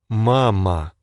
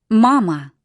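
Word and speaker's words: мама: Mama. Mama. So, the Russian M is identical to ours. M. M. And their letter A. is always an ah sound.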